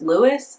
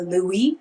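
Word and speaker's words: Louis: But the spelling of the name is also pronounced Lewis.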